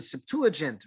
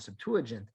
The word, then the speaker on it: Septuagint: is known as the Septuagint or Septuagint some people pronounce it I've seen the G as with a hard G minus two against others